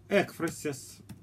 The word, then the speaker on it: экфразис: Это будут такие слова, как духовная, современная русская поэзия, духовная поэзия, экфразис, правильно это слово произносить с ударением на «э», Аверинцев, живопись в поэзии.